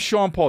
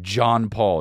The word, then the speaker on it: Sean Paul: John netball dude bro if your name's Sean Paul don't say it like John Paul you know seven best